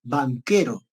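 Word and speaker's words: Vanchero: SC, C, E y CHQ. Esto se pronuncia banquero. ¿Cómo? Sí, se pronuncia así, banquero.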